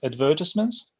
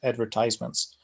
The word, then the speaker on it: advertisements: In British English, you pronounce it advertisements, and American English, you pronounce it advertisements. So it's up to you. Both of these pronunciations are possible in IELTS, so they're both acceptable.